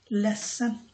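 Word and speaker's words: ledsen: মন খারাপ থাকে সেড এখানে যদিও ডি থাকে লেন্থ সেন কিন্তু এটাকে ডি টাকে সাধারণ উচ্চারণ করা হয় না তো এটাকে বলে লেসন মনে হয় যে দুইটা এস আছে ওইখানে ঐরকম উচ্চারণ হয় কিন্তু লেখার সময় অবশ্যই ডি লিখতে হবে লেসন উচ্চারণ করবে লেসন লেসন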